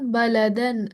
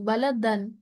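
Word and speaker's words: بَلَدًا: যেমন বালাদান আমিনান, দান, দান, দান। এখানে কিন্তু কোনো গুণনা হয়নি, আমরা কিন্তু বালাদাং বলিনি, বালাদান, বালাদান আমিনান, ওকে?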